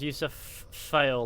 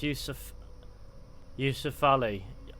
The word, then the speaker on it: Yusuf Ali: People say my name is Yusuf Fail. Like, bro, it's Yusuf Ali.